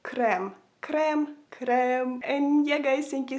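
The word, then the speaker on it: крем: say cream in Ukrainian it sounds so similar you would say it like crem crem crem and yeah guys thank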